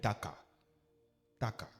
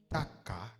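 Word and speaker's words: taqa: Taka. Taka s'écrit T a Q A.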